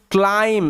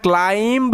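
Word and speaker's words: climb: মধ্যে he started to ক্লাইম্ব এটার উচ্চারণটা ক্লাইম্ব হবে না ক্লাইম্ব হবে বি সাইলেন্ট বি এর উচ্চারণ হয় না যখনই শব্দের শেষে এম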